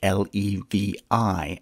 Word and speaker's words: Levi: My paternal grandmother's mother had the last name Levy, a name that can also be spelled L-E-V-I and pronounced Levi.